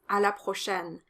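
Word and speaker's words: à la prochaine: see you next time the o is closed and the ai is an open a sound like in the word fair in english so it's a la prochaine a la prochaine it's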